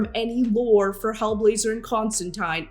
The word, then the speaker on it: Constantine: So, it's Constantine is how you pronounce the comic book character's name, John Constantine.